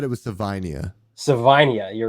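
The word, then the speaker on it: Savaiinaea: tackle so uh I'm not gonna butcher this pronunciation We we played it before we got on Jonah savenia uh from Arizona who I think is better than I think you said it was Savania Savania you're right Savania yeah yeah you're right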